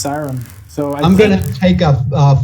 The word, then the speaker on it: Kyron: in the face all right cd master uh kyron griffith 5-0 in the tuesday night marathon has got uh uh it's got a tough opponent coming in the next round pronounced siren so i'm gonna take a five-minute break here